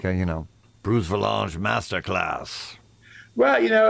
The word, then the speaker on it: Vilanch: have to say it's valance it rhymes with uh with ranch and it's avalanche but it's spelled differently and it's a made-up